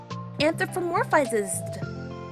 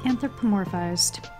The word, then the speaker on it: anthropomorphized: Fazbear that doesn't count he's been anthropomorph anthropomorphizes it's pronounced anthropomorphized anthropomorphized sori that's an awfully big word for